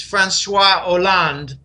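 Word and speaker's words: François Hollande: show Merkel and H Oland a lot of people call them it's silent h in French it's franois land but I'm told that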